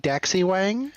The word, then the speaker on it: Da Xiwang: Next, we're gonna go on with Oi Daxiwang. Also, it's pronounced Da Xiwang, the great king of the West.